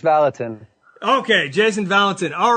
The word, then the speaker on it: Vallotton: Hey, Roar Nation, John Fuller here, episode 37, and I am fired up for today's guest, Jason Vallontton. Jason, did I pronounce that right? Close. It's Vallotton.